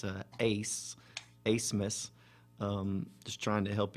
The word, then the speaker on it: Abmas: mispronounces last name the the b is silent it's a ace a smith um just trying to